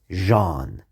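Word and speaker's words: ژ: has three dots and it's pronounced like the way the french say jay like jean the name jean that's je is how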